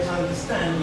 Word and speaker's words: understand: So, for instance, in the word understand, we have 2 types of stress. Are you following this? So now the first one is the secondary stress because it's in the bottom, and that tells us that it isn't going to be as loud as the primary stress. Understand. Let's go. Understand. Now which word has the major stress? Stand.